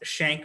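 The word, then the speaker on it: Schenck: quick thing to point out the case is pronounced shank versus the united states now when i was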